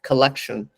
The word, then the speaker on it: KLKTN: Weebox is part of a company called Collection, or it's spelled KLKTN.